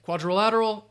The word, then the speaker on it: quadrilateral: trying there we go quadrilateral five syllables again quadrilateral parallelogram so yes and